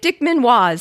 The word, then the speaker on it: Dickman-Waz: Isaac Dickman-Waz sent an update to the puzzle in episode 248 and the pronunciation tip that his last name rhymes with paws like the things at the end of Sasha's legs.